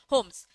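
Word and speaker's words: Holmes: to promote business efficiency L silent होता है okay ठीक है होम्स क्या बोलता है आर्टिकल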